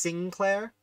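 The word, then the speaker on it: St. Clair: a stickler for spelling saint claire which i understand is actually pronounced sinclair folsom folsom like the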